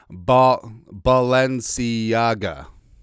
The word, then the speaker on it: Balenciaga: I had the pronunciation up because I'm trying to get better at that. Balenciaga.